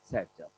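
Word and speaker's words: Saytzeff: आज आपको पहली बार बताया जा रहा है, इट इज प्रोनाउंस एज सेट्जअप।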